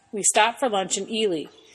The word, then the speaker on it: Ely: stopped for lunch in elely eie not Eli better pronounce things right in eastern Nevada elely